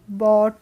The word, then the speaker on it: bought: He sold the wood and bought, इसको क्या बोलेंगे हम, bought बोलेंगे। अब इसमें जी एच है तो वो जी एच साइलेंट रहेगी, तो हम इसको बोलते हैं bought।